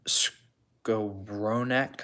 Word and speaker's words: Skowronek: We've got Cam Jordan, Justin Tucker, Ben Skowronek, I believe is how you say his name, and then Buda Baker.